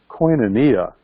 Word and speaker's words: koinonia: a ministry called it see if I cannot pronounce Koinonia house yeah let's say that again Koinonia and that's the Greek word in first John